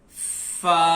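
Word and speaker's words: فاء: Now come to what is the exit point of Fa. When you edge of your teeth, upper teeth, touch on your lower lips. Fa. Yes, this Fa sound is also soft and light.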